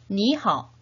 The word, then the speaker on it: 你好: 3번씩 발음해 봅시다. 你好, 你好, 你好.